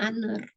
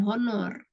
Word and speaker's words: honor: Honor, honor, bacanya honor. Bukan honor.